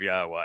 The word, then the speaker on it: Yahowah: I shared all three that by themselves affirm the pronunciation of Yahweh as such.